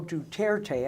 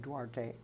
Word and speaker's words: Duterte: move philippine president rodrigo duterte and i mentioned this last time and pronounced his name wrong I said Duarte Duterte declared himself in